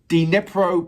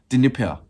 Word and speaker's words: Dnipro: Or you're not pronouncing the D as much? Dnipro. Like that. Dnipro.